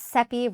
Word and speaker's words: Cepee: My name is Cepee, rhymes with Peppy, and I'm the founder and CEO of a company called She Hit Refresh.